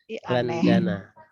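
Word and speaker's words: لندن: Huwa fi ini London, tapi bacanya Landa apa ya? Landana.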